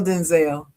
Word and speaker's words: Denzel: His name is Denzel. That's what he said. Shoot the messenger. That's what he said in the interview.